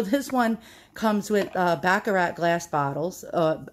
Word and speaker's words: Baccarat: one comes with a baccarat glass bottles uh i call them baccarat it's a new yorker's way of pronouncing everything wrong but it's a actually baccarat glass and look how beautiful